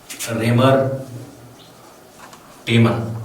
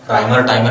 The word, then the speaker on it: Reimer-Tiemann: Raymer-Tiemann, and some of them used to call it as Reimer-Tiemann reaction also. So pronunciation depends on you.